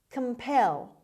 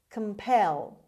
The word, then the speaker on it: compel: composition word number two compel compel compel c-o-m as usual is pronounced as schwa pel the stress is on the second syllable it means force or